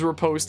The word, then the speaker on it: riposte: The post is riposte is pronounced like post, like the post office.